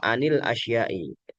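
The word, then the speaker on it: عن الأشياء: Jadi cara bacanya anil asyai tidak atau an al asyai. anil asyai.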